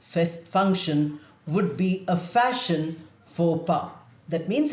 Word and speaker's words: faux pas: The French expression faux pas, when used in English, means a social blunder, some terrible mistake which is socially embarrassing, which is unacceptable. Faux pas.